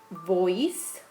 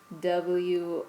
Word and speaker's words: Woese: that studied RNA was Voice. I think that's how you say it. It's Woese.